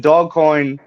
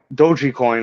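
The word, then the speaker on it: Dogecoin: bitcoin um and then dog coin doji coin is actually how you pronounce it doji coin had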